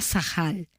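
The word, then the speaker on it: שכל: Y esta es una palabra en hebreo que no sé muy bien cómo se pronuncia, pero se escribe sakal y se pronuncia sahal.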